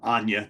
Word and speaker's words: Anya: week uh speaking of anna taylor joy or anya taylor joy let me say her name correctly we're going to talk